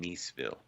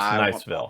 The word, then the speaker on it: Niceville: Is it Niceville or like the French pronunciation, Niceville? Like Nice, France. Don't ruin this, Josh. Don't ruin the moment. It's Niceville.